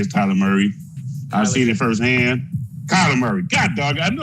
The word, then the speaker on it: Kyler: I think the Washington football team might have a handful against Tyler Murray. I've seen it firsthand. Kyler Murray.